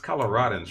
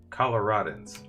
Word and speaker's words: Coloradans: It's Coloradans, right? That's how you say it. Coloradans.